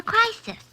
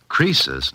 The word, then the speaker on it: Croesus: He's a regular Crisis. A what? Don't you know, Mr. Holiday? Crisis was a rich king. Oh, don't you know, Susie? Croesus, not Crisis, was a rich king.